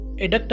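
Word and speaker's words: abduct: का मतलब होता है एडक्ट है वो एडक्ट बी साइलेंट है ना एडक्ट एडक्ट का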